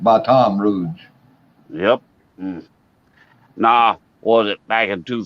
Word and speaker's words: Baton Rouge: Everybody else pronounces it Baton Rouge, but we pronounce it Baton Rouge.